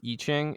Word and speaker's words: I Ching: the eat right yeah however it's pronounced I Ching eaching I always hear it pronounced eaching it's a bunch of